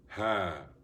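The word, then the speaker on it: ح: Ha, like you say, aha, aha. Then you have ha, like hot, hate, okay? Hate, it's a throat letter. It comes from the middle of the throat.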